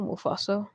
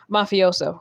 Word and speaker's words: Mafioso: Do you know Mufaso? Isn't that a forsaken character? I think I spelled I pronounced that wrong. Mafioso, right?